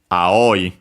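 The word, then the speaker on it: 青い: but mostly blue nowadays aoi also accented this one is an exception.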